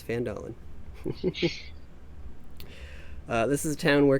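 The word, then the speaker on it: Phandalin: So our adventure is going to begin in a mining town called Fandalen. It's probably pronounced wrong, but that's how I'm pronouncing it. It's Fandalen.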